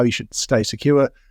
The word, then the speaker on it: CQURE: Today, I'm delighted to be joined by Paula Januszkiewicz, CEO of Secure and Secure Academy, that's spelled CQURE.